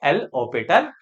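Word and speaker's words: L'Hôpital: है हॉस्पिटल्स ठीक है तोय हॉस्पिटल नहीं होता ये ऑस्पिटल होता है एच साइलेंट है क्या है एच साइलेंट तो जब यहां आपका एच साइलेंट है तो इसे हॉस्पिटल से नहीं पढ़ना है क्या पढ़ना है इसे एल ओ पिटल रूल कि एल होपिटल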